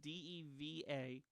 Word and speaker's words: Deva: It's DEVA. It's pronounced Deva.